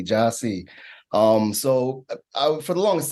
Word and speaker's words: Jahsee: they see it um even though it's phonetic and j-a-h-s-e-e Joshy um so for the